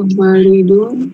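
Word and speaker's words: والد: Nah, kalau ada alifnya walidun, kalau tidak ada alifnya waladun.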